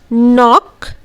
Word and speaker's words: knock: So let's pronunciate these words once again. Knife, knock, no, knee.